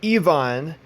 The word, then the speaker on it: Ivan: Ivan but Ivan himself or exactly pronounced Yvonne re-release Evon please he